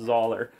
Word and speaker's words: Zahler: And I want to give Zahler, I'm going to stick with Zahler, I'm locking it in, I'm confident that it's pronounced Zahler.